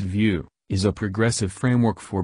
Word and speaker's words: Vue: for building web interfaces vu it pronounced view is a progressive framework